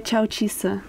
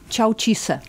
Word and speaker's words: Tchawou Tchuisseu: Tak moje příjmení se vyslovuje Čaučíse. Čaučíse.